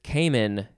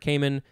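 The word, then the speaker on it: caiman: Next is Cayman, C-A-I-M-A-N, or you can replace the I with a Y.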